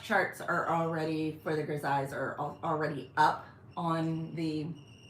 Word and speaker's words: grisaille: I do have a full set of grisailles. I always see the spell, like I phonetically sound it out when I see it, but I know it's pronounced grisaille.